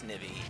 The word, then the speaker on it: Snivy: No way he pronounced snivey with a soft eye. Well, that's actually how you pronounce snivey, you dumbass.